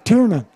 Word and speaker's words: Tiernan: it up six it's almost like tears for fears or 96 tears and by question mark and the mysterians it's tiernan yes i've been saying